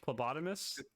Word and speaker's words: phlebotomist: Phlebotomist.